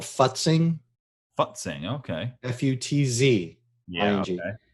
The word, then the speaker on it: futzing: when you're creating graphic that you have to pronounce very carefully it's called futzing but sing okay f-u-t-z yeah and what it